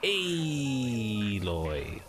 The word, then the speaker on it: Aloy: these guys han and it's aloy say it right contradicting everything i do